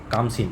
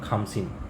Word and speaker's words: খামসিন: ঠিক আছে মনে রাখবে এটা কামসিন সরি খামসিন কে এইচ খ উচ্চারণ হবে খামসিন এই হাওয়াটাকে বলা হয়